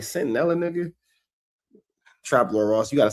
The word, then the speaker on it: Centinela: But this is also the same nigga that said, he didn't say Centinela. He said Catanilla, or some shit like that.